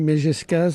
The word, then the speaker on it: Mejescaze: Alors, on rappelle votre nom, c'est Virginie Megescaz, ça s'écrit M-E-J-E-S, C-A-Z-E.